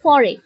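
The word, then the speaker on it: foreign: তারপর আবার কিছু শব্দ আছে যেগুলোতে আপনি কিছু মিউটেড সাউন্ডস পাবেন, যেমন ফরেন, ফরেনে এই যে GIGN এই পার্টটা এখানে মিউটেড, স্পেলিং এ আছে কিন্তু উচ্চারণে নেই।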